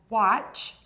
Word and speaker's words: watch: The words are wash, to clean with water, and watch, a clock that you wear. To say these words correctly, focus on the final sounds, sh and ch.